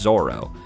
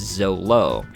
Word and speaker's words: Zoro: It's supposed to be pronounced Zoro, but in the manga, it's Zolo. And I learned it had to do, a friend told me it had to do with the translation.